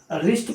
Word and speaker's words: wrist: WRIST, रिस्ट पढ़ा जाएगा, W silent होगा।